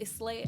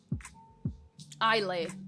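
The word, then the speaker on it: Islay: should ask Inseparable Scotsman is the S silent I didn't mean free half of such a shitty time good one good one um I lay okay thank you the S is silent I think I knew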